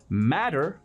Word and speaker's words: matter: Matter es importar en inglés. Y recuerda que las T's que están dentro de palabras en inglés americano se pronuncian como Ds. Matter, matter.